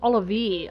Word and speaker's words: Olivier: No, it's not Olivia. It's Olivier. I always thought his name was Olivia. That's not. When I used to play this game, because I was younger, I didn't know how to pronounce certain words, but I just realized his name's Olivier.